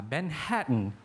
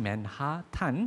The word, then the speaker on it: Manhattan: 이게 무슨 식의 발음이 이런가? 맨해튼. 그러니까 맨하탄이라고 우리나라는 한글로 그렇게 쓰잖아요. 끝에 아가 붙어가지고 맨하탄 아니면 맨해튼이라고 요즘에는 쓰기도 하지만은요.